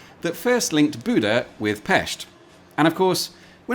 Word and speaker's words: Pest: engineered chain bridge that first linked Buddha with Pesht.